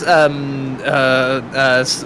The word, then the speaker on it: Smetana: Is it Simtana? How did you pronounce it? I believe it's Smetana.